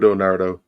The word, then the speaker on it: Naruto: Yeah, Naruto.